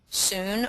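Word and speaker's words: cun: find the acupoints, and it's called Sun or Chun. That's how you pronounce it, Chun or Sun.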